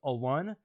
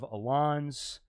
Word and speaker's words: Alun: You know, it's pronounced Alun. He gets a lot of Alons. Alan, Alon, Alone.